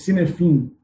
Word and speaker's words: Cynefin: E aí, na verdade, se escreve C-Y-N-E-F-I-N. Então, assim, parece Cynefin, mas na verdade se fala Cynefin.